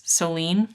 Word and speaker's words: Solène: America, and then what I thought it was Solène, but it's being pronounced by the narrator as Solene, so apologize for that.